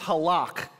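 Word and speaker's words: הלך: pronounced hak because when in Hebrew you got to bring it deep from like within your throat it's like so it's halak and it's a very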